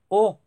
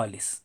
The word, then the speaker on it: aux: Entonces, tanto el masculino singular como el plural se pronuncian igual. O. Y la escritura es esa. AUX. Entonces, no lo olvides. Es un error si dices, por ejemplo, ale o ales.